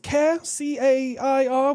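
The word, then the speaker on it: CAIR: Previously Texas and now Florida have labeled uh I believe it's pronounced K a R, which is the Council on American Islamic Relations.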